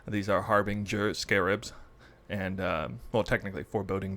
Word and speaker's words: harbinger: word it is not harbinger which i've assumed it was it is harbinger apparently with a j sound so uh probably the